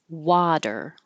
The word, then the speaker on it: water: tail retail and then Water by itself W and this t changes to a d technically an alve flap but it I don't have that symbol on my keyboard so just a d is good enough water and bottle so the